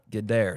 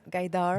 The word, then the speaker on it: Gaidar: Her name is Gdair. Did I say your last name right? No, that's how do you say it? Gdar.